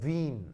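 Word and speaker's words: Wien: 이 독일어예요. 독일어에서 W는 무슨 발음이 나죠? V 발음이 나온다. V. 그래서 발음할 때 윈, 알겠죠? 윈. 이거 I는 독일어에서 이 장모음이에요.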